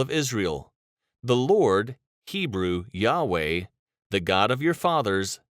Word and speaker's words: Yahweh: as lord all caps the hebrew on the other hand is pronounced yahweh and is based on